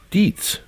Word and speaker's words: Dietz: Park Dietz is pronounced Dietz.